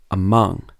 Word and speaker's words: among: And in two-syllable verbs and prepositions, you normally stress the second syllable. For example, relax, receive, between, among. So you wouldn't say relax, receive, between, and among.